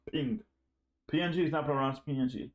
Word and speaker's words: PNG: for the gif image format it pronounces is pronounced ping PNG is upper Ranch PNG pink it supports